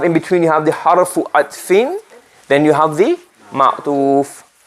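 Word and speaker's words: حرف عطف: The conjunction is called harfu atfin. What's it called? Harfu atfin. Not ataf. Harfu atf. So people pronounce it ataf. It's harfu atfin.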